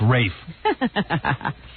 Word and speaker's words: Ralph: But it's spelled R-A-L-F. Right, and that's exactly what Kathleen Turner called him last night, Ralph, because she was the one who presented his award.